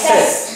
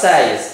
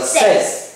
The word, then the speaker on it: says: I say, you say, he, she, it thì thêm s nhưng mà đọc là says, không đọc là says, đọc là says.